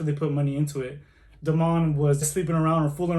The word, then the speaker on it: Damon: Kev and Damon and Damon is not how you say it because it has to be in the French way so Damon and Kev is struggling